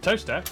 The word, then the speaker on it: Towcester: Mousehole, Next, travel north up to Towcester, Toaster, then a quick jaunt to Gotham.